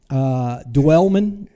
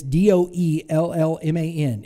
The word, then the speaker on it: Doellman: Dwellman. It's Doellman.